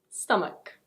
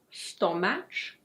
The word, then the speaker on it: stomach: Stomach. It's not "stoh-match". It's: stomach.